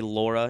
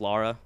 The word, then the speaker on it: Lara: of people do that they say laura instead of lara i do personally uh